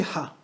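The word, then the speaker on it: ح: C'est le point de prononciation de la lettre Ha. Dis Ha. Ha. Tu as ressenti que dans ta gorge, Ah. il y avait un resserrement.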